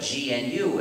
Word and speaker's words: gnu: of jokes you see according to the dictionary the g is silent and it's pronounced new so anytime you want to write the word new you can spell it gnu and you have a